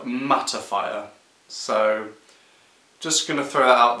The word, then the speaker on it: mattifier: product review of hairpins magnifier one thing I've just realised was such a quite embarrassing is that I've been pronouncing this one wrong I think I've been calling it magnifier this is called mattifier so just gonna throw